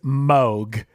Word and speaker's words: Moog: Oh, real quick, Chris, by the way, it is Moog. It's not Moog. It's Moog. I went on their website and they said it's Moog that rhymes with Vogue.